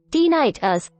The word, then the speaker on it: tinnitus: T us pronounced t h to or tiit us occurs when you hear sounds that aren't in